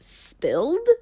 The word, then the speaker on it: SPLD: It's pronounced spilled, silent, lying down protest.